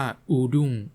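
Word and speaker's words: urdung: ด้าน ก็ จะ ได้ เป็น u r d u n g หรือ ที่ อ่าน ว่า อูดง ใน ภาษา ฮังกาเรียน ผม เลย เอา คำ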